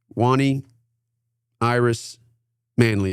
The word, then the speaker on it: Wani Iris Manly: Wanie Iris Manley, did I pronounce that correctly?